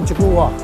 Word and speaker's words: 竹輪: 它是这个日本竹轮啊，竹轮发音就叫吉古瓦，哎，但是我们就念久了就变吉古拉，吉古拉了。